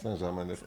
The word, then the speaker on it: Saint-Germain: How do you pronounce it? Saint-Germain.